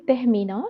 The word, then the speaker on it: Tehmina: But it is actually Tehmina. It's like T pronounced in a way that it's Tehmina with a little bit sound of her in it. Okay, Tahmina.